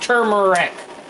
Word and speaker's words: turmeric: Again, turmeric, because he said turmeric, onion, a little bit of ginger. I said turmeric, it's pronounced turmeric.